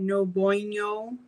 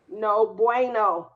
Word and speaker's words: no bueno: How do you say that? No boino. No bueno. No bueno.